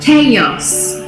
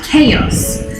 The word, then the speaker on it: chaos: the spanish more than anything um but we pronounce this not class not cows but chaos we always add a sound chaos it was an absolute chaos the same with